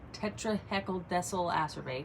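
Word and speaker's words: tetrahexyldecyl ascorbate: we use the highest quality that you get tetraheckle decile acerbate that's how you pronounce it it goes by another name as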